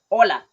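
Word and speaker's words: hola: the H for example when you say Ola you don't pronounce the H for example when you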